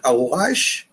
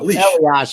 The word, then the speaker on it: Elias: And Patrick Elias, did I say it right? No, Elias, but you're almost there.